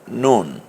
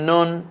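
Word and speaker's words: نون: লাম পরেরটার নাম মিম এই হরফটার নাম হচ্ছে নুন মাশাআল্লাহ কাফ লাম মিম নুন পরের হরফটা চলে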